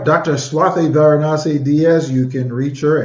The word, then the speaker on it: Varanasi: Swathy Varinasi Diaz. You can reach her at Instagram, Dr. Swathy Varinasi.